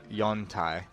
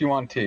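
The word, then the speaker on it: Yuan-ti: believe that it's probably jung-tae not lizard folk okay I think it's pronounced you want tea but yeah you want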